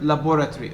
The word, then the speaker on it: laboratory: not stressed for example the second and third vowels in the word laboratory okay laboratory laboratory laboratory three four syllables according to my pronunciation four syllables and so if you look at laboratory my pronunciation features compression as i told you uh